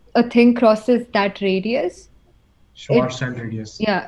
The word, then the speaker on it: Schwarzschild: So, the radius, Schwarzschild radius, I guess.